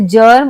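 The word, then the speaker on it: germ: लिए जे यानी जैम पर कई बार ज के लिए जी भी आता है जैसे जर्म और जनेशन तो ग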